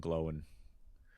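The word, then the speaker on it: Glóin: read by Andy Circus like uh Owen and Glowen which phonetically makes more sense. Um but uh oin and gloin sound funnier.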